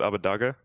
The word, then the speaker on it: Abbedagge: when I came to NA, I just said like you can pronounce it Abbedagge, and then like I don't think the casters pronounce it exactly like I said it, but like I don't Okay.